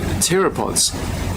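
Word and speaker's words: pteropods: little white scal Parts they're terap pods with a silent P PT e r o DS and they're um they're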